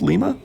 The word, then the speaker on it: Lima: Is that how you pronounce Lima? Not lima beans. Lima, Ohio, I believe.